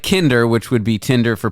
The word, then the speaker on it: Kinder: joke I've ever written because Kinder means child in german yes I'm aware I'm aware and it rhymes with Tinder come on anyone any